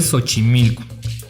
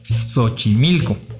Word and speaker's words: Xochimilco: correcta que es méxico otro ejemplo de xochimilco el cual pronuncian con s xochimilco en lugar de xochimilco vaya hicieron un